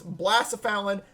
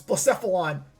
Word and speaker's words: Blacephalon: of me for this, Blacephalon. It's Blacephalon. Take the second one. I said it wrong the first time. It's Blacephalon. He was able to switch on a hidden power ground.